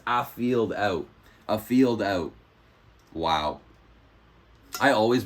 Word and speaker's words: Afield Out: I always thought it was Alfied Out, but it's Afield Out.